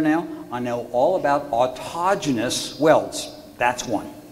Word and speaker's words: autogenous: I know all about autogenous welds. That's one. Autogenous welds. Autogenous. Say it with me, kids. Autogenous welds. Okay. And it's spelled like autogenous, A-U-T-O-G-E-N-O-U-S, autogenous.